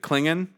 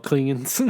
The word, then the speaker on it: Klingon: And also, it's funny cuz Sulu pronounces it clinging. Oh, Klingan.